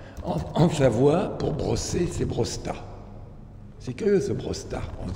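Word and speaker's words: brossèta: Eux, ils ne prononcent pas le « et ». Donc, ce que j'écris avec « e » accent grave, eux, dans la graphie serrée, ils peuvent retirer l'accent. Et comme ça, on sait qu'ils ne prononcent pas ce « e ». Et on comprend le mot brosta.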